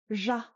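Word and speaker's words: ཞ: In Central Tibetan, this is pronounced Zha, which is almost like the S in the word pleasure or the j in French.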